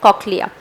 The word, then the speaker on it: cochlea: English language में हम सिलेबिकेट करते हैं, मतलब COCH इज one sound, a slash, so that's cock, and then you pronounce it as cochlea, okay, and LEA का अलग pronunciation।